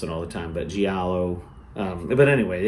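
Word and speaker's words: giallo: i a l l o and I probably mispronounce it all the time but Galo um but anyway it's great genre super cool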